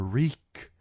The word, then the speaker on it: Reek: You're Reek. Just Reek. It rhymes with freak.